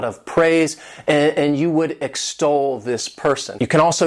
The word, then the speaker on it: extol: This word has 2 syllables, and the stress is on that second syllable, extol.